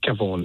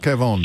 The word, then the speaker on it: Kevon: Uh Kevon. Kevon.